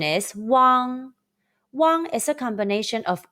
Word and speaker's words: uang: as possible say wang be careful not to pronounce the g sound too much it's barely pronounced say wang now mimik